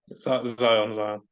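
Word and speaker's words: Xyon: Zion.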